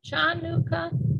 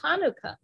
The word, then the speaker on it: Hanukkah: as Christmas he said I'm not sure how to pronounce this is chanuka and I said oh it's pronounced Hanukkah he said how do